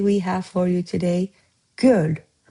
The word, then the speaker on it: göl: Natureful One And master Azerbaijani word of today we have for you today "göl". It's just one syllable.